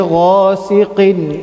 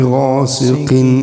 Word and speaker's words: غاسق: So, وَمِن شَرِّ غَاسِقٍ إِذَا وَقَبَ. ومن شر غاسق إذا وقب. We have to make sure the qaf that we're pronouncing is heavy. غاسقٍ. It should not sound like غاسقٍ, right?